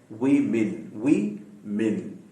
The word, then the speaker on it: women: लिहाजा आज हम इंशाअल्लाह ताला सीखेंगे कि ये जो WOMEN होता है उसकी सही प्रोनाउंसिएशन है वी मिन। यानी W के बाद जो O लिखा गया है वो भी आई है, M के बाद जो